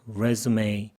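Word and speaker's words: résumé: 시작하다라는 동사로 갈 때는 resume입니다. 이력서일 때는 resume, A라고 하죠. 이 발음을 A, 이력서, resume.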